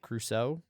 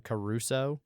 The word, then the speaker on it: Crusoe: uh which i will i will actually pronounce it crusoe uh i'll uh i've learned after being mocked relentlessly way back in the day for the robinson caruso yeah uh it's not